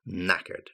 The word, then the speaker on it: knackered: give it no more knackered exhausted completely exhausted and the K is a silent k and then finally whacked